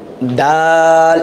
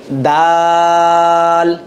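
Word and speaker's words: د: হবে তারপর আছে হচ্ছে দাল একটু লম্বা করে বলবো দাল কি হবে দাল সবাই বলি আমরা দাল তারপর আছে দাল জিহ্বাটা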